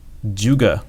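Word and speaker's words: 诸葛: We have Zhuge Liang, Zhuge, that's how you pronounce it, Zhuge Liang.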